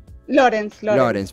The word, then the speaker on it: Lorenz: ¿Es Lorenz o Lorenz? Lorenz, perfecto. Alemán.